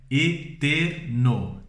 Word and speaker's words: eterno: Ainda que não tenha acento em português, nós falamos eterno. Em espanhol é eterno.